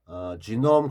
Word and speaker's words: genome: 그리고 이제 영어 발음은 genome인데요. genome. 이게 원래 이 용어 만든 사람이 이제 독일 쪽인데 우리나라 이 발음이 이제 옛날 독일 발음을 해서 우리나라 이 번역은 게놈 이렇게 하고 영어 발음은 genome이에요.